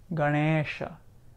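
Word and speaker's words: गणेश: don't know I know so for example we know we've heard of this darnisha Ganesha it's not Ganesh it's Ganesha Ganesha so we also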